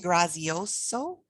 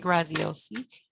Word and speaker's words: Graziosi: it's called the better life journal by dean grazioso graziosi i always say his name wrong dean graziosi he also wrote a book the under and